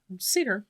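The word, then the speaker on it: seiðr: dives, I just wanted to touch briefly on satyr magic, or how do you pronounce it? Satyr magic.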